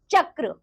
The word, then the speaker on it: चक्र: जो हमारी र से रेप की मात्रा होती है बच्चों वह अक्षर से पहले उसका उच्चारण होता है। जैसे कि होता है पर्वत और इसी तरह बच्चों जो पदेन की मात्रा होती है उसे हम अक्षर के बाद पढ़ते हैं। जैसे कि चक्र। ठीक है ना?